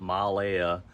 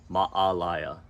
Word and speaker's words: Maalaea: the next town is ma'alaya and you'll see there's a little apostrophe in between the two A's so there's a pause ma'ala it's not Malaya it's not Malia it's ma'alaya so from there you'll